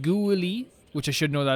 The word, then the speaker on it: Guili: Julie is pronounced Guili, which I should know that as well now.